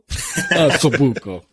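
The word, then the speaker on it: osso buco: the middle of the asabuko okay yeah I remember having that that was that was delicious um yeah Ale House I'm sorry I mispronounced that it's O asabuko asabuko and how do how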